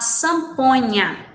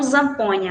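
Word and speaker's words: zampoña: E também temos a samponha, né? Não zamponha, lembrando que o Z em espanhol pronunciamos com som de S, né?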